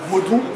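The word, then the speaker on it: Vodun: was corrupted to but originally it is called voodu and it is spelled v o t h u n but you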